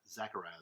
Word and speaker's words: Zechariah: is zac uh zak zachariah zach zachariah zechariah zechariah that's how you say it um so this